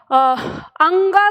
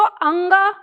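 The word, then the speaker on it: ङ: अक्षर का उच्चारण आपको कुछ लोग बताते हैं ये जो बड़ा है ना इसको अंग कहते हैं ठीक है इसको यहां बोलते हैं तो अंग और इतना लंबा चौड़ा उच्चारण नहीं होता क्योंकि ये वर्ण है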